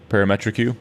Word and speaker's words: parametric: The BlueCat Audio uh par how do you pronounce that? Parametric Q. Parametric.